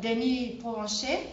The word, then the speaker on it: Denis Provencher: Depuis Baltimore, Denis Provencher, je vais le prononcer à la façon française, professeur de lettres françaises et de la communication interculturelle à l'Université de Maryland, Baltimore County.